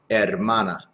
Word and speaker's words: hermana: Él tiene una hermana. Remember, the H is silent. Hermana.